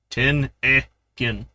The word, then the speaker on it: Tennigan: He's got a pronunciation thing. Ten-e-gin.